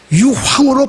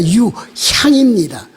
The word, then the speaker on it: 유향: 사람들은 그 유향을 발음을 좀 잘못해서 유황으로 발음하는 사람들이 많이 있습니다. 유황이 아니라 유향입니다. 그래서 그 동방박사들이 드린 그